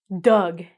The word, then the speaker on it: Doug: The past tense is spelled D-U-G, but the name is D-O-U-G. So we don't actually say the O.